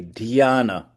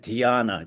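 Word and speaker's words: ध्यान: D h y a n a dana.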